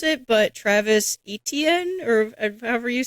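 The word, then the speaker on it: Etienne: pronounce it, but Travis Etnen or however you say that. He actually came out and said it's HN.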